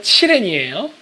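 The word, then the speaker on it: 祁连: 자, 기련은 중국 발음으로 칠렌이에요.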